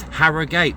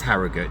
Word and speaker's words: Harrogate: So, you know, I kind of thought maybe it's Harriate, but no, it's Haragut. Just plain old Haragut.